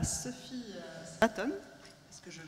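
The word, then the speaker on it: Sophie Swaton: spiritualité je vais passer maintenant la parole à Sophie Aton parce que je prononce correctement bien alors tu économises et philosophe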